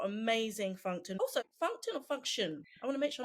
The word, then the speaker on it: Fungtn: I say function because it's function. Functional, but loads of people say Fungtn, so you do you.